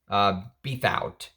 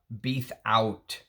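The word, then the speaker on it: Bethouart: He created this fragrance with Jean-Pierre Beathout. Beathout is how I would pronounce his name, I think. B-E-T-H-O-U-A-R-T, Beathout.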